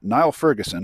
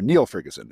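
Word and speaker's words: Niall Ferguson: this morning between uh Nile Ferguson or Neil Ferguson it looks like it should be pronounced Nile but it's really Neil um he's a famous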